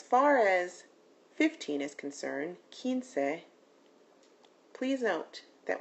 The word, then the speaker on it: quince: As far as 15 is concerned, quince, please note that when you see a QU in Spanish, it's going to have a hard K sound like a K or a C.